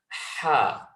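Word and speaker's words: ح: middle of the throat, is the letter Ha, Ha, Ha. So this is quite an easy letter to pronounce. It's got a lot of breath expulsion with this letter.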